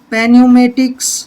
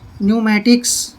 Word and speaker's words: pneumatics: अब जैसे ये है PNEUMATICS, पेन्यूमेटिक्स नहीं पढ़ना है, पेन्यूमेटिक्स नहीं पढ़ना है, पी साइलेंट रहेगा, इसको बोलेंगे हम न्यूमेटिक्स।